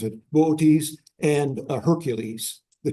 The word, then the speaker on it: Boötes: Anyway, that's so it's really between Boötes, that's how I pronounce it, Boötes and Hercules, the 2 constellations.